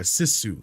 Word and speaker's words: sisu: night or somebody brought it up and a sisu that's how it's pronounced I guess okay this is news to